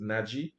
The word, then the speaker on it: Naji: night to his name naji naji naji this that's how you pronounce it naji good night all right